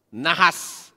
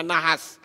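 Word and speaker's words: נחש: Nah sekarang kita lihat kata nahas, ya, nahas, nun, het, shin, ini membacanya nahas, dan kata Mesia.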